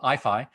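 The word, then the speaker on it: IAIFI: for artificial intelligence and fundamental interactions so we pronounce our acronym IFI and here you see uh the II logo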